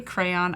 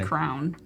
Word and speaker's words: crayon: see our ayo and how do you pronounce it I say crayon I used to say crown crown like because I think I'm not saying it correctly no but it was